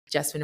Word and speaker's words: Jessamyn: and I said, "Hey, my name is Jessamyn and it rhymes with specimen with a J, like the classic razzle dazzle."